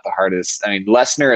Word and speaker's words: Lessner: I mean, Lessner is sometimes Lestner, but like is really an easy thing to say.